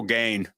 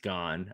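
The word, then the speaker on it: Gane: I really respect serial gain he just kept calling him gain I was like he's joking right he's gotta he's got to be joking there's no way that he doesn't know it's pronounced gone I I mean it's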